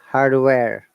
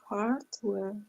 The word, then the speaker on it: hardware: Americans, hardware. hardware, hardware, So hardware, follow which one is suitable for you. So hardware, British English, hardware, American English. Because in American hardware, English, you must pronounce the R sound.